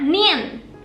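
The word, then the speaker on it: 니은: Kalau huruf ini bacanya Nien.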